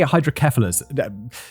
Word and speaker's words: hydrocephalus: I think we say hydrocephalus David's included a pronunciation guide but I believe that hydrocephalus hydrocephalus I'm not sure I think as kef Seth is pronounced kef in the UK like what's that common